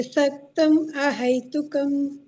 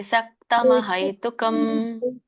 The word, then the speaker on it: ಸಕ್ತಮಹೈತುಕಂ: ಮಾತಾಜಿ ಇನ್ನೊಮ್ಮೆ ಕಾರ್ಯೇ ಸಕ್ತಂ ಅಹೈತುಕಂ ಸಕ್ತಂ ಬೇಡ ಸಕ್ತಮ ಕಾರ್ಯೇ ಸಕ್ತಮಹೈತುಕಂ ಅಲ್ಲಿ ವ್ಯಂಜನ ಮಕ್ಕೆ ವ್ಯಂಜನ ಇಲ್ಲ ಅಲ್ಲ ಸಾಕು ಬಿಡಿಸಿದಾಗ ಆಗುತ್ತೆ ಬಟ್ ನಾವು ಬಿಡಿಸಿ ಹೇಳ್ತಾ ಇಲ್ಲಲ್ಲ ಕೂಡಿ ಹೇಳ್ತಾ ಇದ್ದೀವಿ ಹಾಗಾಗಿ ಸಕ್ತಮಹೈತುಕಂ ಮತ್ತೆ ಇಲ್ಲಿ ನೀವು ಹೇಳಿದ್ರಲ್ಲ